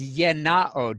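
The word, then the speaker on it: γεννάω: To cause to exist is yenao, G-E-N-N-A-O.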